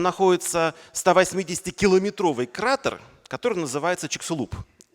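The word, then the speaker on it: Чиксулуб: Там находится 180-километровый кратер, который называется Чиксулуп. Ну, или как сейчас правильно говорить, Чикшулуп, но я так, ладно, старая школа.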